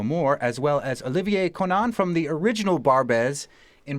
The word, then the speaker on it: Konan: just said it right con is good Conan K there's so many ways I say Conan here mostly okay we want